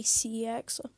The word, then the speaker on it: CeX: but i hate cx or i mean it's pronounced sex but that's kind of awkward so i'm just going to say cx wow 75 views that's my best doing video